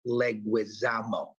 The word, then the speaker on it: Leguizamo: outer space somewhere and it's still pronounced leguizamo thank you very much